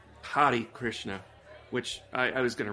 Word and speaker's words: Hare Krishna: And they do go for humor with the Harley Krishna zombie, which my dad used to make fun of Harley Krishnas. I'm probably mispronouncing it. Harley like a motorcycle, Yeah, but Hari Krishna, which I was going to research that.